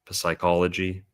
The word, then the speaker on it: psychology: the gender neutrality there of Aquarius and Neptune in Pisces with silent P words like Poseidon, Psychology, Psyche.